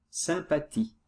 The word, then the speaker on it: sympathie: l'admiré pour sa sympathie attention ici le h ne se prononcent pas sympathie pour peut s'utiliser aussi